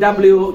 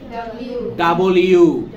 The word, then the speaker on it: W: এখানে আছে এটাকে বলিউড ডব্লিউ চ্যাম্পিয়ন বলি না নো আমরা এটার উচ্চারণ না ডব্লিউ না উচ্চারণ কি হবে ডাবল ইউ দুইটা ইউ একসাথে উচ্চারণ